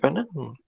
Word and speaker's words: Wegener: esto es Alfred Wegener, me parece que se pronuncia Wegener, creo que era alemán, entonces no sé si lo pronuncio bien.